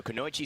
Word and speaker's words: Kunoichi: intelligent people to annoy chi Komachi Komachi so kunoichi sky coming into the realm and you could